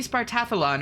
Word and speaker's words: Spartathlon: It has to be Spartathlon or the syllables don't work. Like Spartathlon. There are too many non-stress syllables in a row. But Spartathlon sounds weird because the place is called Sparta. That's interesting, though.